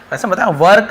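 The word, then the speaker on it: work: है रहना ठीक है वर्क लेकिन वर्क थोड़ा सा आर साइलेंट रहता है इंग्लिश में यदि आप थोड़ा सा एडवांस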